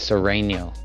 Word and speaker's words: Sereno: Thanks, Serrano. You said Poblano? Yeah, he has a big mouth, but he has a bigger heart. You said it wrong. It's Sereno.